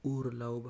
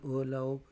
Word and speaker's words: Urlaub: schönen Urlaub یا Urlaub هم ویلی سو، ار تلفظ کو یا سایلنٹ کو دواړه صحیح دي، بیا مغه د لهجې